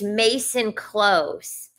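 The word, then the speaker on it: Maison Close: Oh, I was saying it wrong. Anyway, it's Mason Close.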